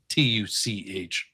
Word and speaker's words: Tuch: His last name is spelled Tuch, but it's pronounced Tuch.